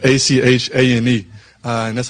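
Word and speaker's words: Etienne: So Travis Etien's name has been Travis Achan THE ENTIRE TIME.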